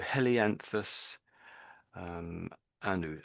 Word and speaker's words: Helianthus annuus: So the heli bit means the sun, and I think your pronunciation was really quite good. And flower, anthus. So helianthus, annuus.